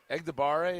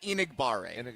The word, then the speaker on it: Enagbare: Egdegbare, if I say his name right. Kingsley Enagbare.